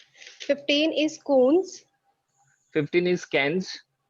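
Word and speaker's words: quinze: Don't worry, if you speak wrong, at least you will know the right pronunciation. Fine, no worries. So 15 is cans. All of you, Cans.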